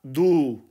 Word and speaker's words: du: तो जब आप तू या तुम को, जो कि इनफॉर्मल वे ऑफ स्पीच है, ट्रांसलेट करेंगे जर्मन में, तो ये बन जाएगा दू, दू, दू, यानी कि यू अंग्रेज़ी में और उर्दू या हिंदी में तू या तुम।